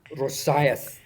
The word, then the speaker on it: Rosyth: Rosyth is pronounced Rosyth.